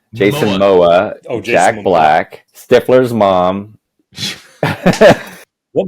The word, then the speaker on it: Momoa: to is, of course, Jack Black with Jason Mambo. How do you say his last name? Jason Momoa.